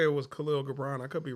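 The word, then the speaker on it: Kahlil Gibran: I want to say it was Khalil Gabbron. I could be wrong. He had Khalil Jabbrron. That's how you say it.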